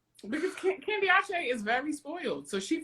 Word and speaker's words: Candiace: Candiace. Not Candice. Candiace. That's how you said her name.